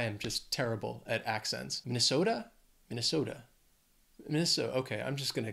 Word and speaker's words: Minnesota: to Michigan is Minnesota four syllables stress is on that third syllable that so that second syllable just the schwat Minnesota there's also a pretty